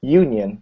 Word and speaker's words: union: other case this one you write the letter u this is the vowel but that when you pronounce it it's union right that's not a vowel sound at the beginning it's a yeah so